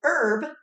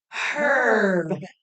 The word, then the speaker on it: herb: Yes, or we could say it properly, herb and cheese puffs. Or we can say it the British way, Herb and cheese puffs.